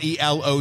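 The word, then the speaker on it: El Reloj: R Lo r r e l o j the J is silent it's ELO it's clock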